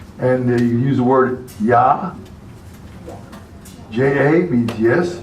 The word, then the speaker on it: ja: E is, the I is pronounced E, and the double E is pronounced A. Means idea. J was yot, and you use the word ya. J-A means yes, ya, or yor, J-O-H-R.